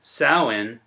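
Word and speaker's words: Samhain: this pagan holiday the pagan festival pronounced saawan celebrated the final harvest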